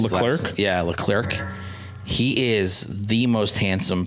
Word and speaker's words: Leclerc: named charles uh le clerico i can't ever pronounce the clerk yeah leclerc he is the most handsome person i've ever